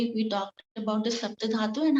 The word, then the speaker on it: saptadhatu: So today topic is saptadhatu. I'll write it down for you. So it's a SAPP is T. Sapt dha DHATU. Okay, saptadhatu. Saptadhatu. The pronunciation is sapt and dhatu.